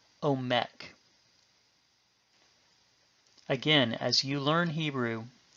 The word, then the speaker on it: Omek: And because no stress is marked, we put the stress on the final syllable, omek.